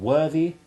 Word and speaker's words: worthy: More complicated still are the words deriving from worth, for while worthless and worthwhile retain a soft th sound, it becomes hard in worthy and unworthy.